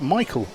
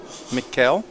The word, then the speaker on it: Mikkel: So I pronounce that Michael person. Mikkel. Because there's people in Britain who have that spelled that way and pronounce Michael. But okay. He's Swedish. That's Mikkel person.